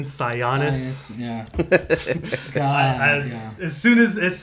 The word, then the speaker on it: Sionis: was the fact that they pronounce his last name sigh onus oh it's Roman sionis yeah as soon as